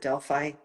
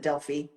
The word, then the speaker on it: Delphi: Sometimes we pronounce it Delphi. The Greeks pronounce it Delphi.